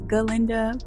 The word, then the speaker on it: Galinda: I went back and forth because the way she pronounces her name is Galinda, but I'm not quite sure if she spells it Glinda, so I just